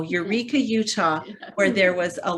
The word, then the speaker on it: Eureka: in eureka utah it's they pronounce it eureka but you know eureka utah where there was